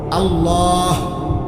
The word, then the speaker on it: আল্লাহ: এজন্য এটা খেয়াল করেন হা পুরা স্পষ্ট বিশুদ্ধ উচ্চারণ হইতে হবে শেষে আল্লাহ শেষে একটা গোল হা আছে ছোট হা আল্লাহ মানে আল্লাহু তো হুটারে